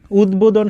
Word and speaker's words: উদ্বোধন: উদ্বোধন শব্দটা দেখো দয়ের সাথে ব ফলা আছে, তাহলে আমাদের এই যে দয়ের উচ্চারণ হবে এবং কি হবে? বয়ের উচ্চারণ হবে।